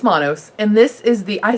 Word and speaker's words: Manos: Anyway, it's Manos.